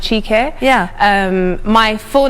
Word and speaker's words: Chiki: nigerian name so actually is not an uncommon name in nigeria normally pronounced chica yeah um my full